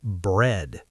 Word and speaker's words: bread: The one that trips people up is bread. B R E A D. Some people think the A is silent, but actually the E A together make the E sound.